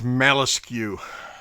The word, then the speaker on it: Malescu: It's like muscle, but not. Not That's even actually spelled like muscle. It's rearranged.